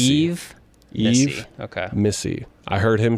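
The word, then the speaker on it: Yves Missi: I should have asked about name pronunciation. Is it Yves Missy? Eve Missy. Eve Missy.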